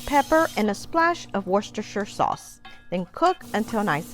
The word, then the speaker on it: Worcestershire: this British sauce is worcestershire sauce now think about it when's the last time you said New Hampshire it's New Hampshire Worcestershire you want to saute